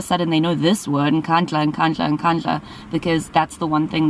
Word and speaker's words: Nkandla: You know, some people who could not pronounce Kandla, they've now learned Nkandla, Nkandla.